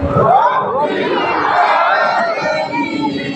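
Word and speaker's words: رب العالمين: কারণ এই দুইটা হরফের উচ্চারণ হলে অর্থ অবশ্যই কি থাকে? পরিবর্তন হয়ে যাবে। যেমন রাব্বিল আলামিন। রাব্বিল আলামিন।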